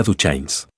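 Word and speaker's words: Duchannes: Lena Duchains. Pronunciado, en el sur, para rimar con lluvia. De la manera en que Ama lo extendió, hubieras pensado que la palabra tenía una sílaba extra.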